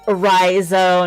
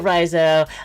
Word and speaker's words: Riso: Also, it's Riso. Not that I ever plan on talking to you again, but if you're going to say my name, say it right.